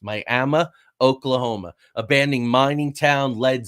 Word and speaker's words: Miami: So this looks like Miami, but it's actually Miami is how it's pronounced. Miami, Oklahoma.